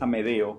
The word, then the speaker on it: Amedeo: Hoy les quiero hablar de Amedeo Clemente Modigliani. Es Amedeo con E, porque muchas veces lo había escrito con A o incluso lo pronuncian con A como Amadeo, pero no, es Amedeo con E.